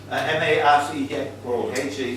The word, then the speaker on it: Marche: M-A-R-C-H-E, yeah, Marche. Marche, is that how you pronounce it?